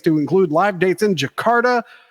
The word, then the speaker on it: Jakarta: include live dates in Jakarta yakarta Jakarta okay it's spelled with a Y it is but it's